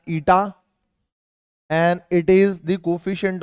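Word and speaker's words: η: of viscosity this is this is pronounced as ITA and it is the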